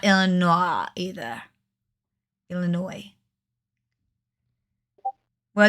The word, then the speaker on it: Illinois: If you pronounce it Illinois, I smack you. Just saying. Because that is not Illinois either. Illinois.